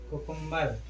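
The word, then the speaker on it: cucumber: कुकुम्बर, कुकुम्बर माने क्या होता है, खीरा, इसमें भी बी के पहले एम है, लेकिन यहाँ पर भी उच्चारण होता है, यहाँ साइलेंट नहीं रहता।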